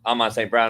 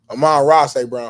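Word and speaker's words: Amon-Ra St. Brown: list um so it is what it is Aman St Brown no shout out to the Compton Aman ra St Brown huh yeah I was saying it wrong Legend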